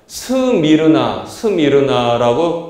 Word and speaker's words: 스미르나: 그래서 제가 이제 이 말씀을 쭉 전하는데 여러분 이 서머나 교회는 사실은 영어 성경 보면은 서머나가 아니라 스미르나라고 발음이 됩니다.